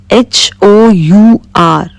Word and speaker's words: hour: H O U R. Here, H is also silent.